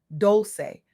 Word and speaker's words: Dolce: I'm your host, Leanne Dolce, pronounced dol-chay, like sweet softness whispered in French.